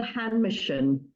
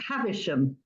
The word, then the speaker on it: Havisham: this is called Mademoiselle hand Mission have havisham say it right as in um um Dickens story at the edge of